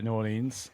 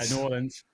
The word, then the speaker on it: New Orleans: so we traveled to New Orleans or should New Orleans said it wrong New Orleans and what a drive